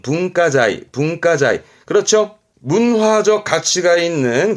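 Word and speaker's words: 文化財: 발음은 분가자이.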